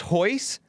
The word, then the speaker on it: Royce: Royce is pronounced Hoyce?